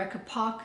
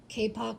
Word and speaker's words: kapok: latex noodle fill or akka POC silk fill and I'm I apologize I'm saying that incorrectly if I can find the correct pronunciation I'll do voiceover that here kapok so the kapag silk